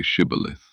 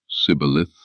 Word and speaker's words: Shibboleth: If he said, No, then they said to him, No, say Shibboleth. And he said, Sibboleth, for he couldn't manage to pronounce it correctly.